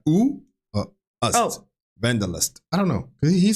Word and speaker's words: Wanderlust: in English, and that's people in English might pronounce it wanderlust, but wanderlust, right? The need to sort of get out there is. It's not a common English word. No, I said vandalust. Is it vandalust?